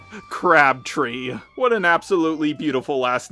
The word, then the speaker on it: Crabtree: And her name is pronounced Crabtree.